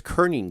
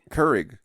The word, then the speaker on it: Keurig: Like, for instance, those Keurig cups. Keurig? Or how do you pronounce that?